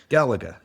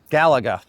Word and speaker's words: Galaga: It's pronounced Galaga. Galaga.